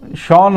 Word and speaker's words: Sean: और उसके अलावा एलेक्स कैरी है, शॉन एबट, अभी इंग्लिश भी है ना, अब शॉन हम बोलते हैं SHAUN, ये SEAN है, लेकिन प्रोनाउंस शॉन ही करते हैं।